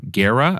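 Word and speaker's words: Guerra: be for music uh artist John Gara I think I'm pronouncing his last name correct it's gu e r r a his album ordinary ways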